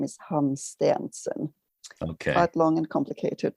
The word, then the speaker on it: Hansteensen: english so and then my family name is hans stanson okay quite long and complicated but quite simple